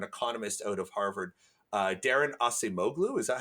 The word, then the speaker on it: Acemoglu: There's I think it's a political scientist or an economist out of Harvard, Darren Acemoglu. Is that how you pronounce his name? Acemoglu, he's at MIT.